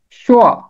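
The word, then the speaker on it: شوع: इसका दुरुस्त तलफ्फुज है शुआ, कोआ, ऐन के ऊपर जबर।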